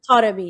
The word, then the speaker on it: Taremi: Taremi, yeah.